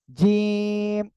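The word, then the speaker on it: ج: আমরা উচ্চারণ করব কেমন জিম শক্ত করে শক্ত করে ঠিক আছে আমরা এই অক্ষরটা উচ্চারণ করবো কি একটু শক্ত করে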